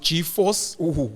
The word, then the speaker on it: G4S: have happened in particular G4S which apparently is is pronounced G-Force that's what I heard the G4S um